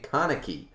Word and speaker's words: Kaneki: i see it now i don't want to say kanaki i want to say kaneki yet